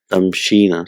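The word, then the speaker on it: تمشين: We take away the weak letter and it becomes tamshina. So originally it is tamshiina. So because of ease in pronunciation and because of repetition, it becomes tamshina.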